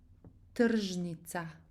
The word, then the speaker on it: Tržnica: So we pronounce it, it's the same ch basically. Kamenčić. No difference. Tržnica.